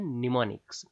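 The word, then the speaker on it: mnemonic: है नीम का वृक्ष यहां पर एवं साइलेंट होता है पर इसकी स्पेलिंग में काम आता है तो इसको हम बोलते हैं निमोनिक उसके बाद निमोनिक्स बेसिकली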